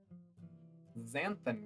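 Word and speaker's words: xanthan: found an article that said to try um zanth gum yep that's how you pronounce that and if anybody wants to fight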